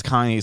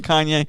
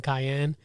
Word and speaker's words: Kanye: still filming your documentary kanye yeah like you still working on that he's like yeah yeah yeah yeah yeah yeah at some point they didn't even say his name right they call him cayenne yeah cayenne and then